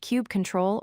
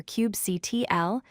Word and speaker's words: kubectl: Cubectal pronounced cube control or cubectl is the kubernetes command line tool.